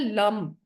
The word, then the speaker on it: लम: हम चैटिंग करते हैं लम ल के ऊपर बिंदी आती है एल ए एम के स्पेलिंग है इसके इंग्लिश में